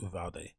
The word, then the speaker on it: Uvalde: You pronounce it Uvalde.